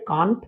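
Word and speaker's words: can't: মনে রাখবে যখন অ্যাব্রিভিয়েশন ফর্ম ইউজ করবে তার প্রোনাউন্সিয়েশন হবে কান্ট, আর এইরকম ভাবে বললে তুমি ক্যান নট, কিংবা এই অ্যাব্রিভিয়েশন শর্ট ফর্মে বললে CAN অ্যাপোস্ট্রফি টি যখন বলবে সেটার উচ্চারণ হবে কান্ট।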